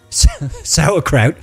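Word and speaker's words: sauerkraut: 1500 not too bad pronounced like sour spelled like s yeah sourkraut that always reminds me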